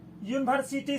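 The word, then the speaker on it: university: यूनिवर्सिटी शब्द का शुरुआती अक्षर जो है भले ही वॉवेल से शुरू हुआ हो, लेकिन इसका उच्चारण जो है यू से होता है, इसीलिए इसके पहले ए लग गया है।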